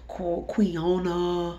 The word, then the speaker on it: quinoa: I thought I was doing right eating the navy bean tortilla rolls and adding that brown rice and the quinoa.